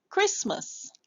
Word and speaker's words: Christmas: add the s sound crease and then the t is silent.